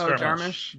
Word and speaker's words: Jarmusch: Martin is correcting your pronunciation of, I think, Jarmusch. Is it Jarmusch? It's Jarmusch.